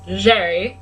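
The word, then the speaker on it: Gerry: Jerry Jerry Evans Jerry he's not as like spelled like Gary but it's Jerry it is not spelled like Gary I kept calling him Gary for like the first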